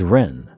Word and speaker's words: Ren: My name is Ren, pronounced like Ren the bird.